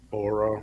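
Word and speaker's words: Oura: can track that I know I've used an aura ring myself that's spelled o-u-r-a if you want to look that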